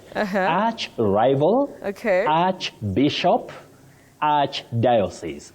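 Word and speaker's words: archdiocese: Arch diosis. You don't say ark. Ark. No. For that word.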